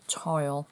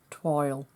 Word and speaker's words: toile: anna some people say toil some people say twill so i'm a yorkshire lass and it's toil to me and it's probably pronounced completely differently but that's how i say it we're going to